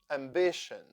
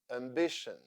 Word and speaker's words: ambition: Ambition. Tion here sounds shin. Ambition.